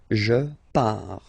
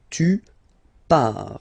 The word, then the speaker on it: pars: Okay, so the first form is je pars, so final S not pronounced, je pars. Tu pars, same form, you can see here and here.